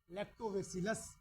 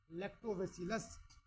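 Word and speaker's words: Lactobacillus: convert करने वाला bacteria लैक्टोवेसिलस लिखिए दूध से दही में परिवर्तन करने वाला बैक्टीरिया लैक्टोवसिलस लैक्टोवसिलस नहीं बोलना है लैक्टो वेसिलस ठीक है ठीक है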